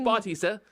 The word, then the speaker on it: Bautista: how do you say his last name it's Bautista but but-- ista is what wrestling's wrestling fans